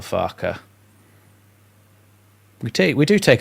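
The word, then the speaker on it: Farke: Daniel Far, but it's Daniel Farer.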